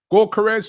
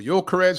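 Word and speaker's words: Gyökeres: our attack for sure garez or yores whichever way you want to pronounce it tough tough deal to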